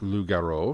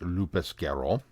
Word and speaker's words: loup-garou: the episode comments, but my listening of Loup-Garou, pronounced Loup-Garou, for those who just barely passed French 1, because I think back in the day we pronounced it Lupus-Garou, for my Big Finish reviews.